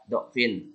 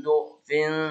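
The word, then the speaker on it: ضعف: Jadi do-nya bisa yang do ini bisa diganti du.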